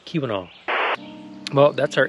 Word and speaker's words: Keweenaw: Wait, you said quinoa. Quinoa? I said earlier, I keep thinking of that as like quinoa, quinoa, because I keep spelling it wrong or saying it wrong too. Keweenaw, Keweenaw.